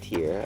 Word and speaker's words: Tyr: excited you have to help me with the pronunciation of their name yeah this is tiar tiar okay that's easy enough I was like it's